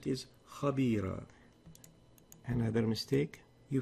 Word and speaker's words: خبيرة: You've pronounced that as خبيرة. What the right way of pronouncing it is خبيرة.